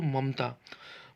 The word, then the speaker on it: ममता: जैसे दोस्तों ममता, ममता में आप देखेंगे दोस्तों कि जो दूसरा वाला म है उसमें म का केवल आधा उच्चारण हो रहा है।